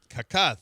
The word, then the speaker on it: Kaká: Yeah, it's Kaká. Who? Yeah. Kaká that the it's The accent is on the A.